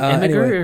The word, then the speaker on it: Imgur: Is it Imgur or is it Imgur? I have no idea. Once again, the soft G versus hard G. I know. I feel like I should pronounce it Imgur. That makes more sense, right? Because it's like an image. Yeah. But like I see that GUR and I just want to say grr.